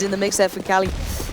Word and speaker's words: KQLY: on the board, and I have been informed KQLY actually pronounced Cali.